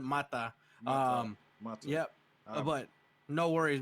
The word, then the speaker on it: Mata: My family pronounces it Mata.